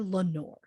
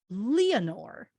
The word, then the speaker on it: Leonore: right out the gate while some simply call her lenore i'm going to pronounce it leonore as it has been said in the movie hollywoodland and by lois lane herself phyllis coats and if